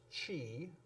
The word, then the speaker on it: qi: QI, which most people will pronounce chi.